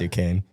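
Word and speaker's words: Duquesne: It's spelled Dquint, but it's Dukane.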